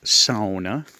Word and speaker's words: sauna: to this cool little cabin which is a sauna it's pronounced sona a great little construction piece you will notice